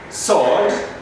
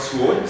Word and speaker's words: sword: we have ari playwright sword sword not swole sword rubber rub red